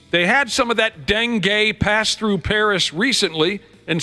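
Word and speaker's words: dengue: it you really honestly Denay is how you say it Denay yeah uh okay it's a mosquito born disease they had some of that Den gay pass through Paris recently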